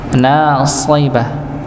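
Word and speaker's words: ناصبة: nasiba tapi nasiba nasiba sh huruf sh dikasrahkan jadi sh bukan si tapi shibah nasibah nggih jadi dibaca dengan tebal nasibah Nggih, huruf sh ya, bukan huruf sin.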